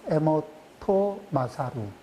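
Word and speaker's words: 江本勝: 해서 2 8 표를 해서 에모토 마사루 일본 발음이 요 에모토 마사루 예 그런 별탈 연구를 하신 분이 있습니다 자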